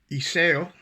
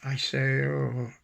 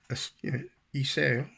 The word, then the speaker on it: Iseo: Iseo. That's how you really pronounce it. Not an Iseo. Iseo.